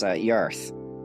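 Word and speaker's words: Jarth: However, both ourselves and our fellow people from across the plane, we both pronounce the entire plane as Yarth. We spell it with a J, and they spell it with a Y.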